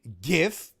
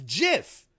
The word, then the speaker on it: gif: now it's confirmed that the heal way of pronouncing gift is jiff that's how you get your heat it's not the right way the baby faces pronounce a gif the heals pronounce a jiff it's that simple I